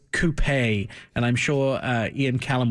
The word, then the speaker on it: coupé: Uh, I prefer the coupe, amazingly enough, to the convertible. Most, uh, most people tend to like convertibles a little more, but I actually I'm saying it wrong. It's coupé, and I'm sure Ian